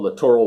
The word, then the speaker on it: littoral: would be fun and littoral waters hope I'm pronouncing that right it's not literal waters it's spelled littoral waters you know shallow waters